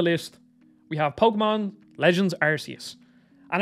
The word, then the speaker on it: Arceus: And it actually is apparently officially pronounced Arceus, but then Pokemon Company changed it because arse in like England and Ireland means arse, like an ass. So they changed it to Arceus.